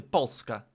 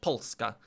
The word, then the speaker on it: Polska: I guess you say Polska, right? I guess that's how you say it in Polish, Polska. Poland, Polska. Yeah. Very hard on the Polska.